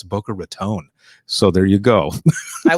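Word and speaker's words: Boca Raton: just I want to make sure that I'm pronouncing it right because uh I was in Florida once and I said is this Booker Raton and they go don't you ever say that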